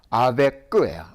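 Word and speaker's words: avec: 이게 이름이에요 그러니까 영어의 근데 아베가 아니에요 아베끄예요 아베끄 우리 그 뭐 산책을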